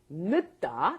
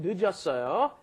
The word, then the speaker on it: 늦다: Notice when it comes up against another consonant, it doesn't get fully pronounced, right? 늦다, because it came up against another consonant, but then when it's conjugated, it comes up against a vowel. The 0 plus a vowel makes it 늦었어요.